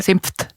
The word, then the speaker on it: Senf: haben auch aber geschrieben, dass sie Senft sagen. Ja. Senft. Ich sage auch Mit Senft. T hinten.